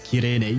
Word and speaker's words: Cyrene: Makes you feel worse in Japanese, it's Kirene. Yeah, I remembered you mentioned that. Yeah, but I'm used to Japanese people not mispronouncing, but pronouncing things the way they can, I suppose.